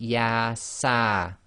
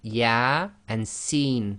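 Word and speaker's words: Ya-Sin: of the surah, and with these single letters they effectively are pronounced as the name of the alphabet, not the sound. So here you cannot say Yasa, it would be Ya and Sin.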